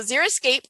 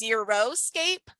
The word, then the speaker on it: xeriscape: So xeriscape comes from the Greek word xeric, which means dry. I've heard some people mispronounce it as xeroscape, which to me sounds like no landscape, whereas xeriscape can be